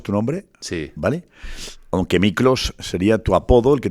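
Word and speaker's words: Miklós: Aunque Miclos sería tu apodo, el que te puso tu padre. Mi hermana. Tu hermana. Sí, sí. ¿Cómo es eso? Bueno, eh, en húngaro se escribe Miklos.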